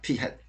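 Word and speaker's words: p̂: 요거는 P 햇이라고 읽습니다. 모자를 씌웠어. 여기다가 이거 이제 좀 구분해서 표현해야 되니까 P 햇.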